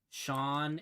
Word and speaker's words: Sean: to me about how sean and dean are spelled the same way right it's s-e-a-n and d-e-a-n but they're pronounced completely differently and they're like man